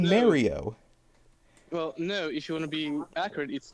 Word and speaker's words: Mario: correct pronunciation uh like if you want to be accurate yeah not even Charles martinet actually says the the very North American R part of it he goes for more Mario that is that's really